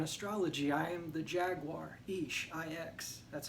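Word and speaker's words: Ix: Like, I find this incredibly fascinating because in Mayan astrology, I am the Jaguar, Ish, I-X, that's how you spell it.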